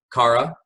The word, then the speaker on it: Kara: Cara?